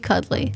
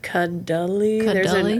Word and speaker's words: Cuddley: Yeah, first time Lexi Cuddley. Yes, that is how your last name is pronounced. I think there's technically an H in there. Cuddly. There's probably that that you're not even sure.